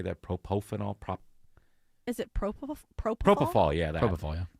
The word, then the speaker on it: propofol: Is it propofol?